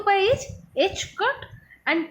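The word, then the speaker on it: ħ: This is represented as h cut, or this is pronounced as h cut, or this is h bar.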